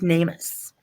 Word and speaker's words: NamUs: So this is from it's pronounced NAMUS, and it's NAMUS, and it's where I talked about a little bit earlier.